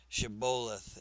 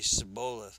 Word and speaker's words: Shibboleth: If the man said, "No, I am not," they would tell him to say Shibboleth. If he was from Ephraim, he would say Sibboleth, because people from Ephraim cannot pronounce the word correctly.